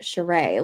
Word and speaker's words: Sheree: Erica wanted us to know that her last name is pronounced Sheree, like hip hip Sheree, which is so much fun.